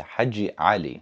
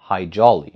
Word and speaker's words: Haji Ali: changed his name to Haji Ali. The Americans butchered the pronunciation of Haji Ali, calling him High Jolly, which I think is kind of cute, actually.